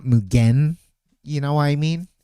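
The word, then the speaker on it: 無限: mugen is that like mugan is technically three syllables the way the Japanese pronounce it. Like for us for us westerners like we just combine the n but the n is part of the syllable is m not not mugen.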